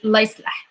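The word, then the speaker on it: الله يصلح: Pronunciation, you just say la yislah, la yislah.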